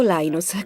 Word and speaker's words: Linus: Linus o Linus? Qual è la pronuncia esatta?